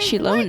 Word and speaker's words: Xilonen: Wow, so we'll finally get to meet Xilonen, the legendary Xilonen, forger of that's how you say it.